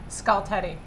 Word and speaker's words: Skultety: Skultety. Like a skull and a teddy bear.